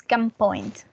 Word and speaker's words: gunpoint: because in this case, when we have an N that is followed by a P, the P changes the letter N and it is pronounced not as an N sound, but as a M sound. So it's gunpoint.